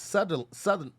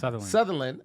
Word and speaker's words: Sutherland: focused on the Mississippi submarine uh instead Judas Southern sorry Southern you can do it come on land come on come on Jesus so it's pronounced like Sutherland s-u-t-h-e-r okay Sutherland uh associate director of human for Human Rights